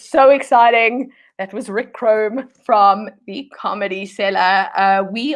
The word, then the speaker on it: Crom: kromm is a brick crumb yep pronounced wrong but spelled crumb oh is it chrome it's pronounced chrome yes oh I know